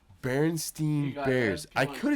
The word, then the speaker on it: Berenstain: think- Do you remember the Berenstain Bears? Yes, I used to watch it How do you every spell it?